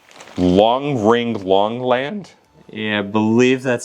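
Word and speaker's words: Long Ring Long Land: Is that one Long Ring Longland? Yeah, I believe that's how it's said. It's Long Ring Long. It might be Long Island. No, Long Ring Longland.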